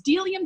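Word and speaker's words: Bdellium: It's Delium Tools. The B is silent.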